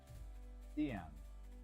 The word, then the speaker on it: Stian: So rhymes with Ian. Stian.